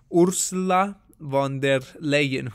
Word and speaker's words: Ursula von der Leyen: over here i see ursula von der leyen that's how you pronounce her name she's the president of